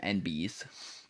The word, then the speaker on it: enby: Them NBs. NBs? Yeah. Northbound. It's usually spelled ENBY. So, like, you're supposed to, like, phonetically say NB.